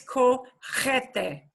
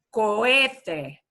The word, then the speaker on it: cohete: El cohete es rocket. Y fíjense, notice, no es cojete. No, no, no. Cohete. Cohete. Repitan, por favor, todos. Cohete. Cohete. It's like saying co-ed with a different, right?